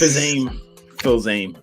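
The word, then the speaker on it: Fils-Aimé: Just, type in the phonetic pronunciation. Phonetical? I got you. I'll type it in right now. Filame or Fizame or, okay. It's Filzame. Okay. Fizame? Oh, Filzame. We're looking at chapter 3.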